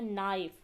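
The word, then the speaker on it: knife: जैसा कि यहां पे यह लिखा हुआ है नाइफ। नाइफ में आप देखें। यहां पर के लिखा तो हुआ है लेकिन इसकी आवाज सुनाई नहीं दे रही।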